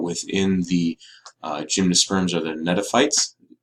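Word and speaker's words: gnetophytes: the gymnosperms are the Neda fights it's a silent G at the beginning there this is a very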